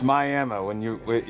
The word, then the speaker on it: Miami: Do they pronounce it like Miami there, or is it Miami? It's Miami. It's kind of a weird